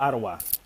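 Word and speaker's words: Adwa: Yes, it's AD. Ottawa. Remember I told you the D is a T?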